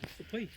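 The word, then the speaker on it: Sukhoi: ये सुखोई जाएगी तो सुखोई, ये लास्ट का जे को ये लोग वाई प्रोनाउंस करते हैं, सुखोई है ना, सुखोई।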